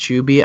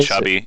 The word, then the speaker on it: Chubymuffin: Yeah, it's technically pronounced Chuby. I just get so annoyed with saying Chuby for some reason that I just say Chubby. I'll be real with you. I'm just gonna say Chubby, even though I know it's Chuby.